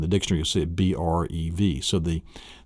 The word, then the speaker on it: breve: The next one then is the brev, and it's pronounced, the first one you'll see in a dictionary is the brev. Some have it breve, but it's a brev.